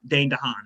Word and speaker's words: Dane DeHaan: Dane DeHaan.